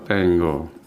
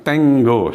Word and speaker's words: tengo: tenggo ya jadi yo Tengo ini bacanya bukan Tengo ya Tengo bukan tenggo seolah-olah kayak g-nya dua tenggo k-nya tetap kan nah yo tenggoke saya